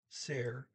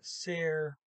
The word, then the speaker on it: ser: and notice here that ser rhymes with the word air when you see an